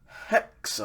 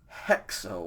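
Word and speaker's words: ἕξω: produce a c and so the future form of echo i have or i hold is hexo all right hexo with the rough breathing mark now this is i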